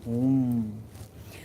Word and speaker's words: hum: It's Dirghavarn, Hum, H-O-O-M, Hum, okay?